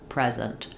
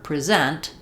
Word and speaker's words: present: For example, in a word like present, we need to stress the first syllable as a noun, present, or present, the second syllable, as a verb.